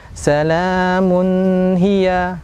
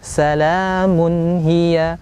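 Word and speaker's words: سَلَامٌ هِيَ: Contohnya adalah salamun hiya. Nah, salamun hiya. Nah, ini salah. Yang benar adalah salamun hiya, bukan didengungkan.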